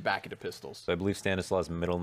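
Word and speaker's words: Stanisław: into pistols I believe Stanis Law's middle name is Stanis well sorry that is just how you pronounce stanislaw and that's his middle name and that's just a Polish name okay yeah see I'm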